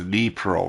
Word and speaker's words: Dnipro: By the way, I figured out how to actually say it correctly. It's actually, I was saying it wrong like I figured. It is Dnipro River.